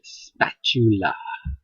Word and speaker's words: spatula: a straight edge spatula spat you la no that's not how you say it spat u t u together spatula statue okay when you have the t english you have the t and the u together it's back to the